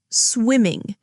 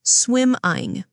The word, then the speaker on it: swimming: How about swimming? Be careful with the double M. Swimming, not swim-ing.